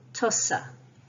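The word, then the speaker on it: tusa: T-U-S-A, tussa. S is preceded and followed by both broad vowels, U and A, so it's a s sound, tussa, tussa.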